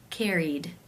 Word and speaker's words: carried: you pronounce this word the final sound in the infinitive is the n consonant sound which is voiced therefore it is case 2 where the ed is pronounced as the d sound turned turned how do